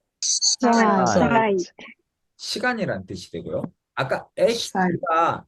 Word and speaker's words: Zeit: 그리고 A는 무조건 I 발음이 된댔죠. 읽어볼까요? 사이 Zeit, 시간이란 뜻이 되고요.